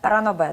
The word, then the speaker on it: ранобе: так ще просвітили ранобе не знаю як ранобе ранобе да правильно наголос це саме книги де